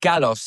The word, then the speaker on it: Kalos: album uh Common Common Kalos? Common Kalos? Yeah, it's pronounced Kalos. It's It's a Greek word, but it's Okay.